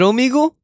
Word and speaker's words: Omegle: Oh, is it Omegle? It is Omegle. I just always pronounce it Omegle because I'm weird.